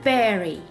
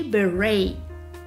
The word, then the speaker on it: beret: A berry. British pronunciation berry, whereas American people say beret.